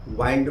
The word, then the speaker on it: wind: उसी तरह से विंड मतलब हवा, वाइंड मतलब घड़ी में चाबी देना।